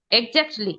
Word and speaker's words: exactly: হুম অ্যাকচুয়ালি একদম ঠিক অ্যাকচুয়ালি যেটা না অ্যাকচুয়ালি এক্স্যাক্টলি EXAC EXACTLY এক্স্যাক্টলি এক্স্যাক্টলি হ্যাঁ এক্স্যাক্টলি এটার উচ্চারণ এক্স্যাক্টলি।